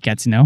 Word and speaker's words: Gatineau: Gatineau? Gatineau is fine, yes.